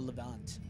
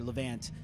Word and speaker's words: Levant: I'm gonna say this name wrong, but The Blood of the Levant, or Levant, depending on where you're from. If you're from New York City and you say everything like Ant and Antony, but I love that video, man.